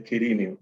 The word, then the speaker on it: Quirinio: En realidad sí se debería pronunciar el nombre, según las mejores fuentes. Ok. Es Quirinio.